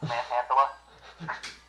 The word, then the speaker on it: Manhandla: No joke, it's spelled Manhandla. Like, you're a person who manhandles people. Manhandala.